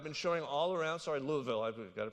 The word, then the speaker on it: Louisville: Sorry, Louisville. I've got to pronounce it right.